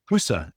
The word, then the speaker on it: Husse: Husa. It's spelled Husse.